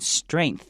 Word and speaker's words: strength: This word is a little difficult to pronounce, but you have to kind of see E as an A sound. Stray. And then with the N sound, you have to make sure you have that sound go upwards towards the back of your mouth. Strain. And then the G is very, very small, but you still have it. Strength and end it with a TH.